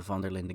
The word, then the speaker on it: Van der Linde: part of a gang, the Van der Linde gang, which, yes, I'm pronouncing that Dutch, fuck you.